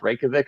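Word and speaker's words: Reykjavík: is the only reason why I know it's pronounced rankovic is because it's the capital of the country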